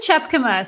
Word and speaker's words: Tjepkema: I've done such things before it's it is chapk see you practiced all that time and then you weren't even gonna do it yeah I know okay well I'm chapk um and I am a marketer you you